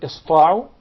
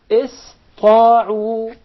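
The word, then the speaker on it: اسطاعوا: So it will be pronounced as sin, not sad. Okay. إِسْطَاعُوا.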